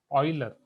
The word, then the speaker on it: Euler: यूलर्स ने definitely यूलर्स, यहाँ पे मैंने आपको प्रोनाउंसिएशन भी बोला था कि फॉरेन कंट्रीज में जनरली इनको बोला जाता है ऑयलर, राइट?